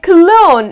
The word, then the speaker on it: cologne: goodbye to the letter g so it's like cologne if your man stings he needs to spray